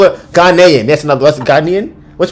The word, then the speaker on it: Ghanaian: It would be said as Ghanaian.